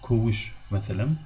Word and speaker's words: kovuş: Mesela, kovuş, mesela, for example, kovuş. The word kovuş, kovuş. Again, ko, open syllable because it ends with a vowel. It has 2 syllables, kovuş, kovuş, 2 syllables.